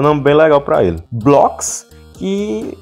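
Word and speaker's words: Bloxx: É a mesma pronúncia, Blocks.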